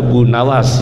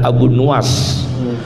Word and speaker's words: Abu Nuwas: benar bacanya Bang as-syaikh jangan baca Abu Nawas yang benar Abu nuwas dada Abunawas Sunda dalam